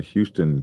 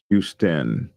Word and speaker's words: Houston: In Georgia, they have a Houston County, Georgia, and they pronounce it Houston. Houston. Georgia is wrong.